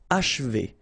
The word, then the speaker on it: achever: Okay, and then if you want to pronounce it the way French people will do, so don't insist too much on this and you will get H, achevé, achevé.